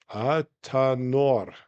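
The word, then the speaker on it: athanor: The word athan and alche alchemical furnace is pronounced atanor.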